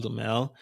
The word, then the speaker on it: Dumesle: Uh, and it's my name, Demell, and my last name is spelled D U M- SL E.